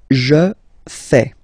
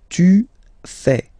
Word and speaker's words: fais: Je fais. Je fais. Remember, final S not pronounced. Je fais. Tu fais. Same rule here, final S not pronounced.